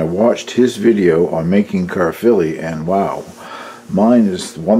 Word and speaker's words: Caerphilly: see the spelling there but evidently it is pronounced Caerphilly which is a town in Wales where the